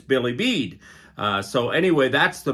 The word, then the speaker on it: Bilibid: Sheila taught me how to say it. So, as I understand it, it's Billy Bead.